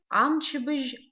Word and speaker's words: амчебыж: Дни недели на абазинском языке амчебыж амшква. Амчебыж амшква. Мчебж на абазинском языке неделя. Амшква дни. Новые для нас звуки здесь. Звук ж в слове амчебыж. Амчебыж. Звук ж пишется как ж, мягкий знак.